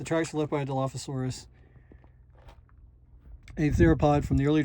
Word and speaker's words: Dilophosaurus: But anyways, the tracks are left by a Dilophosaurus, a theropod from the early Jurassic. Uh about 157 million to 266 26 million. The name is pronounced dilofasaurus, meaning two crested lizard.